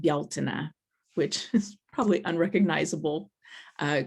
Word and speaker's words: Beltane: it and pronounce it beltane um but it's also it's a gaelic word and so i've been taught to pronounce it bialtena which is probably unrecognizable